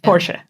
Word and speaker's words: Porsche: That's how you pronounce it in German. Porsche. Porsche.